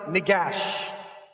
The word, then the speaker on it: Negash: And they pronounce it Negash. That's how they pronounce it in the Tigray language.